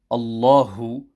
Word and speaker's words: الله: When reciting this verse, care must be taken to ensure that the ha on the word Allahu is pronounced clearly and not subdued.